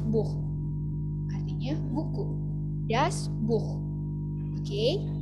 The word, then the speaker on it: Buch: Nah, kalau huruf CH di akhir kata, dibacanya seperti H. Beispiel, contohnya das Buch, artinya buku.